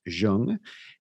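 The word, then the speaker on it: Zheng: about a gentleman named Zhang huan I believe it's uh z h e n g but that's pronounced Zhang and he is the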